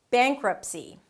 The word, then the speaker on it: bankruptcy: We being with 'bank' - it's a B sound and then it's the 'ah' as in 'cat, but since there is an 'ng' consonant sound - "bank" the 'ah' turns more into a 'eh' sound or an 'ay' sound - "bein". And then close it with a 'k' - "beink".